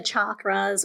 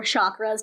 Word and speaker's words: chakras: So with Reiki, we're dealing with the chakras or chakras, depending on where you come from, how you pronounce it.